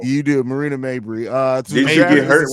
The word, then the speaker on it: Mabry: last year we kind of took a gamble on Marina Mayberry. Yeah. It's So the I draft. always say her name wrong. You do, Marina Mabry.